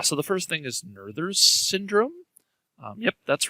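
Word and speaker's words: Noether: the first thing is nerders syndrome yep that's right it's uh pronounced nurther and she was a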